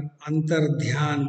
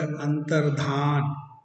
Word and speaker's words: अंतर्धान: अंतरहिते, हिंदी में जो अंतर्धान शब्द चलता है, बहुत से लोग इस शब्द का सही उच्चारण और सही ज्ञान न होने के कारण अंतर्ध्यान बोलते हैं, वो बिल्कुल अशुद्ध है। शब्द है अंतर्धान, और अंतर्धान से ही अंतरहित बना, छिप जाना।